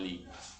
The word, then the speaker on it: lit: Donde Ton lit, oui, exactamente. La T final no se pronuncia, ton lit.